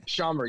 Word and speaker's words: Schaumburg: in chicago um i don't know how to pronounce that place shumberg scunburg illinois oh yeah schomburg schaumburg yeah so it's in the middle of nowhere